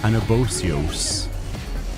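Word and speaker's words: Anabaseios: C I never realized she's sang anabas anabios that's how you pronounce that an abos uh I'm going to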